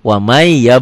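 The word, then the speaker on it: وَمَن: yang ngerti tajwid gitulah Warman nggak mungkin baca Wa man dia wamai wamai ya bataki pertanyaannya waman ya betaji Apa hukumnya Idgham Bighunnah Kenapa Idgham Bighunnah karena nun mati ketemu ya Wa man ya betagi dibacanya jadi apa jadi wamai tulisan dan bacaan beda tulisan bacaannya beda ditulisnya waman dibacanya wamai tuh wamai ya Betawi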